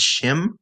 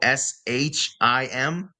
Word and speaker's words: shim: proper pronunciation for slesh isn't he or she it's shim so s h i m shim so what so